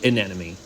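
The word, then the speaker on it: anemone: An enemy or a wood anemy just in case you're wondering that is spelled a n e m o n e.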